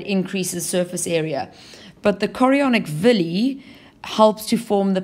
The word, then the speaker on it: chorionic: are called chonic villy be careful here you don't use the word chronic villy um I think in some textbooks that it is spelled incorrectly but also just chonic sounds like a funny word so we have to say chonic villy and it's the same